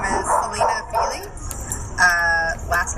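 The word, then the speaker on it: Fiely: My name is Alina Feely. Last name is spelled F-I-E-L-Y.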